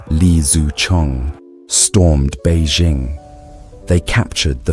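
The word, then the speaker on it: Li Zicheng: In 1644, rebel forces under Leang, pronounced Li Zu Chong, stormed Beijing.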